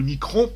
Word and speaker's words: micron: Mais en tout cas, ce qui est certain, c'est que le micromètre, alias le micron, on prononce avec un ON.